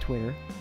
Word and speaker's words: TWTTR: Anyway, within 6 months after the launch, TWTTR, and it's pronounced Twitter, had become what we now know today as TWITTER, also Twitter.